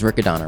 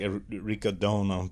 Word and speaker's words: Riccadonna: Yeah, that's the that's probably the correct ricodona but because Italians use pure vowels or whatever, but we're American.